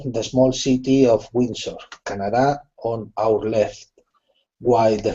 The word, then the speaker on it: Canada: In English, well, the word has the emphasis on the first syllable, so it's Canada. Canada.